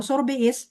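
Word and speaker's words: sorbet: Ini bacanya tulisannya sorbit. Bacanya sama-sama. Sorbei. Sorbe.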